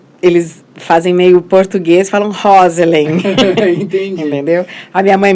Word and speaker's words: Roselen: Na realidade é o nome inglês seria Rosln, mas ninguém no Brasil nunca falou Roslin. Daí ficou no Brasil ficou Roselin.